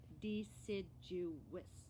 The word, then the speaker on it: deciduous: It's got four syllables. You know what syllables are? It's like the beats of the word. Are you ready? They're called deciduous. Can you say that? Deciduous. If I say it slow, it gets weird. Deciduous. Say it fast now. Deciduous. Okay, that's how you pronounce that.